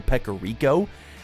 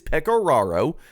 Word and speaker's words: Pecoraro: I think I called him Joe Pecorico, and I regret it dearly. So, Joe, if you're listening, I'm sorry. It is Pecoraro. That's how you say it.